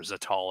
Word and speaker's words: Zatal: slanted English, Pacific Z, almost any C sound in Gamma World, or not C, but S sound in Gamma World is pronounced with a Z. So Seattle became Seattle, or Zatal, I believe is what it was.